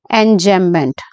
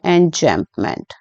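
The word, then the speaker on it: enjambment: poem के अंदर चल रहा है दैट इज एंजमेंट एन जम मेंट एन जमप मेंट ठीक है ये स्पेलिंग है और एन जमप मेंट जो होता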